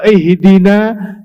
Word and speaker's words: ihdina: ajar banget kalau sengaja orang baca itu Apa bacanya ihdi bukan kalau ihdina Ya Allah tunjukkanlah kepada kami kasih kami ngerti